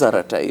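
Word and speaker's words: Arattai: flat out and we have what is Aratai?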